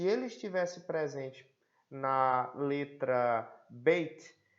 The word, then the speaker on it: beit: Então aí nós temos o beit, é a mesma consoante, certo? Ele é transliterado como um B e o som é B de bola.